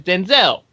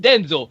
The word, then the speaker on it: Denzel: movie now as everyone knows my name is Denzel but if you so watch this movie it is not pronounced the way it's supposed to be they said Denzil so the first time I heard that I